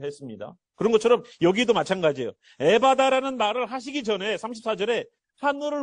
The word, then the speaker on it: 에바다: 에바다. 정확한 발음으로는 에파따예요. 에파따. 에파따.